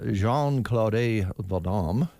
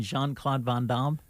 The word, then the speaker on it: Jean-Claude Van Damme: Jean-Claude Vadam, 61 today. Can you today. say that again? Can you say his name again? Jean-Claude You mean Jean-Claude Van Damme?